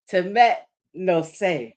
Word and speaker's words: Temet Nosce: But now I know how to say it. Temet no say.